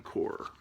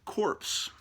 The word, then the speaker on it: Corps: Superman and the Green Lantern Corps, or as Barack Obama would pronounce it, corpse.